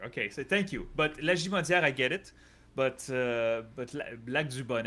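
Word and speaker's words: Lagimodière: But it's not Lajimaudière. It's Lajimaudière and Lac de Bonnie.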